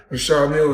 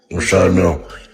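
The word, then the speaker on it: Richard Mille: No, I like to call this Well, they people pronounce them different ways. Rashad Mill is what my jeweler told me. So, that's exactly how you say it, Michelle. Rashad Mill.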